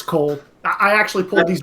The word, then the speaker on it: Coyle: I can call up Magister Izzy, was it Cole or Coyle that you were going to have that name pronounced as? It's Cole.